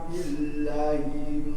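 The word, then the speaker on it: بالله: Yahlifuna billahi ma qalu. Nah, billah panjangkan, qa-nya panjangkan. Yahlifuna billahi ma qalu.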